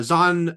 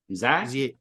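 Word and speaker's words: Zahn: No, not only I actually watched a video where he's talking about his name, but it's spelled Z and he says it's Zan.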